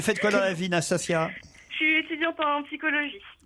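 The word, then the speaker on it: Nastassja: Bonjour Nastasia. Bonjour. Je prononce bien votre prénom?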